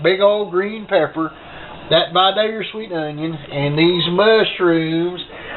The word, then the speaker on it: Vidalia: And as you notice, I say Vidalia, and that's how you say it, because I know people from there.